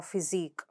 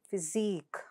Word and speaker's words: physique: Next, ik, as in unique or physique. So how do you pronounce that? Unique. Unique. Physique.